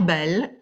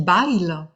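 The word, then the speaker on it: Bayle: Nous avons aussi rendez-vous le 17 juin pour parler de Pierre Bell. Bell, ça s'écrit B-A-Y-L-E. Alors, Jean-Marc, chez toi, on dit Bail. Pierre Bail, avec l'accent du Sud, qui lui est qui est un protestant, il n'était pas théologien, du XVIIe.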